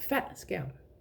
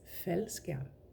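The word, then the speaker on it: faldskærm: It's not fat scam, it's fel scam. I don't know if you can hear that is a softer pronunciation of it. A softer ending. I mean there's no ending right because it's a it's a one syllable word but still the ending of that word there is no glottle stop when it is together with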